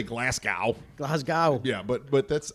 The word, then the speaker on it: Glasgow: speaking Scottish is that we have real emphasis on the vowels but they're short sounds Glasgow Glasgow Glasgow right glasgo so